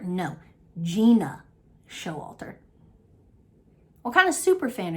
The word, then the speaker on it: Gena Showalter: This is let me correct myself because apparently, which is a thing, I've been saying her name wrong this whole fucking time. Gena Showalter? No, Gena Showalter.